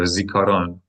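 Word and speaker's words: זיכרון: So, how many syllables are there? Three. That's right. We should have three syllables. Zaron. There you go. Zikaron.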